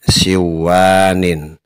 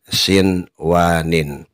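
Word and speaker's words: صنوان: kita tidak boleh membaca duya dan siwanin, tetapi bacalah dunya dan sinwanin.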